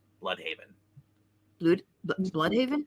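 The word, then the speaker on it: Blüdhaven: Haven yeah it's blood it's always pronounced blood unless you're actually German then it's blue well no one cares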